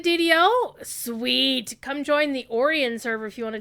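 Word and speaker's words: Orien: awesome orion uh o-r-i-e-n i'll spell it for you but it looks like it's almost that's actually the reason why i chose it back in the day is because it looked like orion because that's my favorite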